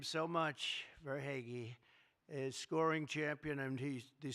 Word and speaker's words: Verhaeghe: a man named Carter Verhaeghe. Carter Verhaeghe. Where's Carter? I could only pronounce that name because I heard it so many times during the service. I said hair is right.